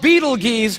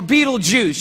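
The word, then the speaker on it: Betelgeuse: heard about this star it's called Beetle Gees or be be juice you can pick your pronunciation I'm obviously going with Beetle Juice and Beetle Juice is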